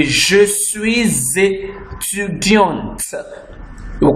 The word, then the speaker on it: étudiante: She will say, je suis étudiante. We'll call the last T. Now, this E is making the last T of étudiant to be pronounced.